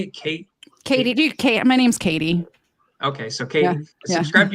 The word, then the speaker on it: Katie: do you say it Kate Katie my name's Katie okay so okay subscribe to your channel but